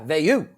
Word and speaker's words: Veilleux: Is Veilleux? Veilleux. Yeah, Veilleux.